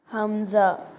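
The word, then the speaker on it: ء: தொண்டையிலிருந்து வெளியாகணும் ஹா ஹா ஹம்ஸா இந்த எழுத்து கீழ் தொண்டையிலிருந்து வெளியாகணும் ஹம்ஸா ஹம்ஸா யா இந்த எழுத்து நாக்கோட நடுப்பகுதி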